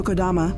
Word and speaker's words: Kodama: Yoshio Kodama, pronounced Kodama, is one of the most powerful men in Japan.